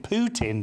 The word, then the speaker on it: Putin: call uh Vladimir Putin Putin don't you which obviously sounds like a mobile toilet but the that is his name but I always say Putin just to save him in embarrassment I think you're mispronouncing his name then yeah but I'm